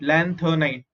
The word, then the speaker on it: lanthanide: Lan, lan, th is th, nid is night, lanthanide. Lanthanide series and actinide.